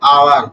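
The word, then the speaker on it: hour: यहां भी यूज़ तीसरा पवाद है आवर। आवर में देखो यहां पे एच साइलेंट है इसलिए आवर के साथ ओ वोवेल है इसलिए यहां पे एन आवर होता है एन ऑनेस्ट मैन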